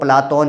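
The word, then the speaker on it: Πλάτων: में प्रसिद्ध हो गया क्योंकि शुद्ध उच्चारण जो है यूनानी भाषा में वह प्ला तोन है और हम उसे जो है अपनी सुविधा के लिए प्लेटो कहते हैं क्योंकि प्ला तोन का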